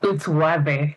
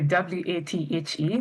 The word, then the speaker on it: Wathe: It's Wathe. So the W-A-T-H-E, that's Wathe. That's how we pronounce it here in Kenya.